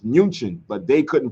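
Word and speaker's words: München: Europe um when you when you hear the city Munich it's not the real name of Munich it's munin but they couldn't pronounce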